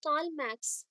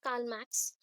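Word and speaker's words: Karl Marx: philosophers कार्ल मैक्स, कार्ल मार्क्स और मैक्स भी बोलते हैं, कार्ल मैक्स फटाफट से बोलते तो कार्ल मैक्स बोलते हैं, मतलब आर प्रोनाउंस नहीं होता, कार्ल मैक्स यहाँ पे हम बोले तो आर प्रोनाउंस नहीं होगा, कार्ल मैक्स और कार्ल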